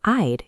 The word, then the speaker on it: I'd: Make sure you put a soft "d" sound at the end, so it doesn't sound like "I love to."